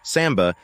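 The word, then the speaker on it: самбо: Russian pronounced Samba is a martial art with Soviet Origins an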